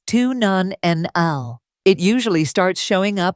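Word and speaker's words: 2-nonenal: As we age, our bodies begin to produce a compound called two nonenal, pronounced tun non nl.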